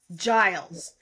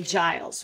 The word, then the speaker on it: Giles: three it's it's G Giles like a j yes yeah okay Giles woo I never thought